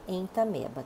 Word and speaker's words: Entamoeba: Se escreve entamoeba, mas se fala entameba, tá?